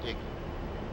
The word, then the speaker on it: EGI: The primary navigation system of the A-10C is the embedded GPS, INS, or EGI, often pronounced IGI.